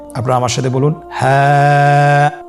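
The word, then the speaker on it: ح: হা হরফটি উচ্চারণ ক্ষেত্রে অবশ্যই বারিক হবে এবং এক আলিফ টেনে পড়তে হবে। আপনারা আমার সাথে বলুন হ্যাঁ। হ্যাঁ।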